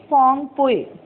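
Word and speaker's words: Phawngpui: Its pronunciation is Phongpui.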